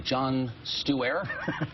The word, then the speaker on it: Stewart: It's the super PAC of, I hope I'm pronouncing this correctly, Jon Stewart. I believe it's a soft T.